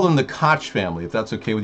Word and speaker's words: Koch: candidate here yes the coke family correct the Cook family coke like from the coking process you know the coking I'm going to call them the kotch family if that's okay